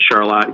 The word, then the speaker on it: Charlotte: of the surrounding communities and counties around that Charlotte Michigan where I live spelled like Charlotte we pronounce it Charlotte here in Michigan but other surrounding small towns